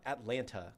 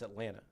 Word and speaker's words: Atlanta: well, yeah, it's not Atlanta, right? It's Atlanta. You know, it's like there's a lot of that kind of stuff. Atlanta. Anyway, We Atlanta.